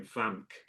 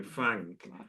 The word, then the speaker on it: Frank: and his name is Frank. And he said, "Why do we pronounce Frank like there's a silent G in it." And he meant before the K because, you know, we don't say Frank, you know, we say Frank.